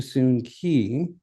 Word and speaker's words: Soon Key: I'm thinking that with this evidence and the newspaper clippings I have found, and the records with the Vancouver City that I have found point to Soon Key as the pronunciation he used in his life.